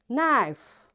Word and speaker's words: knife: next letter is k k is silent when it comes before n so wherever in a